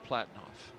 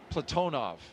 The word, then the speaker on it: Platonov: Our crew today, commander Zena Cardman, pilot Michael Frink, Jaxa astronaut Kimmy Aayoui, and Rosscosmos cosminaut Alleg Platinoff. Platonov. I corrected my pronunciation yesterday and I slipped back into Americanizing.